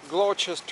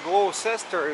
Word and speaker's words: Gloucester: два три 4 5 5 крёз так вот glow части узкая вот это буквы седло участия она как бы должна читаться gloucester или glauca стоит на читается как ч glow